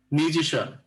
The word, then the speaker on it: musician: একটা কথা বলে রাখি, এই শিয়ান আর শিয়াল উচ্চারণ করা যাবে না। এর আগে আমি মনে হয় প্রথম ক্লাসে মনে হয় বলছিলাম নাকি এর আগে। তো মিউজিশিয়ান শান উচ্চারণ হবে, আর এখানে যে শিয়াল